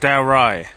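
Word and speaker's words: Dalrigh: medieval Scottish history happened right here Battle of dowy and that is how you pronounce it there's a lot of places in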